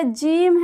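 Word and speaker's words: ج: होता है इसी तरह यह जीम है इसे जीम यह जीम पढ़ते हैं लेकिन इसका हिंदी उच्चारण ज होता है यह चे है इसके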